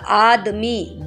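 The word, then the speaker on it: आदमी: அந்த ஆத்மி த வந்து கொஞ்சம் லைட்டான த யூஸ் பண்ணணும் இந்த இடத்துல. ஆத்மி அப்படின்னு சொல்லணும். ஆத்மி அப்படின்னு சொன்னோம்னா அந்த வார்த்தையே மாறி போயிடும்.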